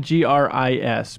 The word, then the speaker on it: Gris: Spelled G-R-I-S, but you insist pronounced Gris because it's gray.